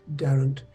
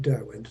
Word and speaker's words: Derwent: the upper end of the Durham Valley um Darren is the pronunciation the river is actually written on maps is written Derwent and a lot of people call it Derwent nowadays now the upper part of the down